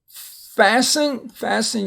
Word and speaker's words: fasten: Fasten your seatbelts.